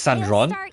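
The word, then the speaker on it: Sandrone: This one should be That's how they pronounce Sandron.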